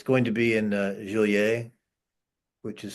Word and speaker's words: Genolier: I think it's in it's going to be in Joliet, which is spelled Genolier.